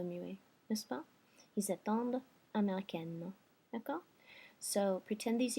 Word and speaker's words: attendent: And then the last one, ils attendent. And I'm pronouncing my D because of my fake O muet here in the third person plural ending.